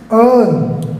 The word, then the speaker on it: earn: ठीक है, नेक्स्ट क्या है, अर्न, क्या बोलेंगे, अर्न, EARN, क्या बोलेंगे, अर्न, अर्न नहीं, राइट, अर्न नहीं, ये जो R है ये बीच का साइलेंट रहेगा, अर्न, अर्न, अर्न मीन्स कमाना, अर्न, अर्नड।